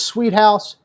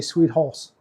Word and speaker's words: Sweet-Haus: But anyway, technically it's Sweet-Haus, but the way it's spelled, H-A-U-S, I always like to say Sweet-Haus. Like me, I'm a horse.